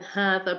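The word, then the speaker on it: هذا: Dhalika and hadha are pronounced as dhalika and hadha. Basically, you are elongating it because of an alif that comes after it, but that's not written down.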